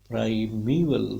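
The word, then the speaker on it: primeval: प्राइमीवल माँ साउंड पे स्ट्रेस रहेगा।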